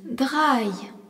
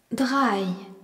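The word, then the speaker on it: drei: Le nombre 3 se dit dra. D R E I. Draille.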